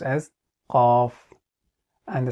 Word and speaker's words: ق: It is pronounced as Qaaf, and the sound is Aqo.